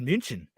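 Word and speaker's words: München: states we say munich it's not called munich in munich it's called munchen what nobody's not it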